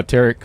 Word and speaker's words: Tarek: He was giving me a really good drill to, how Tarek left, leave the cue ball at one end,